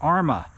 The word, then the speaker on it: Arrma: Arma.